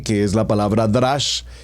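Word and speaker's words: דרש: lo lo estoy pronunciando remex seguidamente tenemos el drash como lo estoy pronunciando d r a s h drash y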